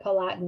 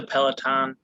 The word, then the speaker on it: Peloton: is or is it palatine i don't know how how you pronounce it is it peloton or palatine somebody correct me it is a peloton okay i'm so this